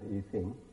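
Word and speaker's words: Yijing: There's now in Pinyin it's written with X-I-N-G, whereas Needham wrote with S-H-I-N-G. But of course spelling can't change the pronunciation, it's the same Chinese word, but I will pronounce it Yi Sing, who was in fact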